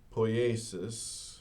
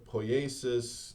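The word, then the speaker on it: poiesis: Um, so there's a Greek word poasis. Um, not necessarily how the ancient Greeks would pronounce it, but it is how English speakers generally pronounce it. So there's there's this word po pooasis that gets translated as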